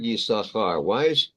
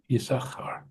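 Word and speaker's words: יששכר: The word Yisachar, why don't we say Yisachar? I mean, there's an extra shin in there that is silent. I never understood that. I never even thought about it. Yeah, Yisachar.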